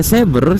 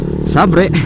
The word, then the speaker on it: Xabre: Entah kenapa di Indonesia malah Sabre gitu. Walaupun bacanya Saber, cuma orang Indonesia ya bacanya Sabre. Nggak enak gitu bacanya.